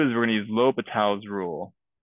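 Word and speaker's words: L'Hôpital: we're going to use low Patel's rule you know oh hospitals kind of how it's spelled no hospitals low fatalities rule so what that means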